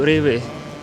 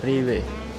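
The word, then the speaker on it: REWE: Namanya itu Riway bacanya Riwe kurang lebih kayak gitulah ya.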